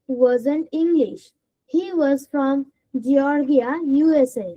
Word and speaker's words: Georgia: He was from Georgia, USA. না, জর্জিয়া। You should pronounce this as Georgia, GORGIA, জর্জিয়া ইউএসএ, হয়েছে?